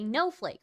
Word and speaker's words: Noehflake: Hayleigh, aka Noehflake, rhymes with snowflake.